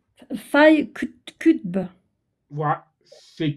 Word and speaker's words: Qutb: Il s'appelle Sayed Qutb. Je vous l'appelle, je le prononce mal. Ouais. Son nom de famille, c'est Q de Québec, U de uniforme, T de tango, B de bravo.